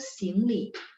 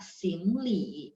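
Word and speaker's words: 行李: Lanjut berikutnya adalah Yeni, bagasi itu xingli. Li-nya ada 3 atau 2? Ada 3. Xingli, xing-nya 2, li-nya 3 ya, xingli.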